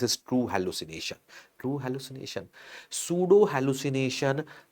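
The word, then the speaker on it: pseudo: inner and subjective space S फॉर सूडो if pronounce सूडो एस की sound आएगी तो subjective space this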